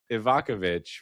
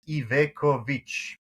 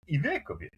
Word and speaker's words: Ivekovic: It's not Ivakovic, right? No, it's Ivekovic. Ivekovic. Ivekovic. Ivekovic. If I do full Balkan accent, Ivekovic.